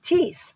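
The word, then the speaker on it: Thies: Oh, see Kent says, "Yes, we pronounce the farm tease." The road with a thie. Okay, thank you. The farm is Tease. The road is These.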